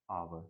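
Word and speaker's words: hour: क्योंकि इसका जो प्रोनाउंसिएशन होता है वो होता है आवर, तो एन आवर।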